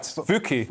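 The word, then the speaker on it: Fucke: Yeah, so a Swedish village, I'm going to have to pronounce this correctly, Fuke? Right. Fuke.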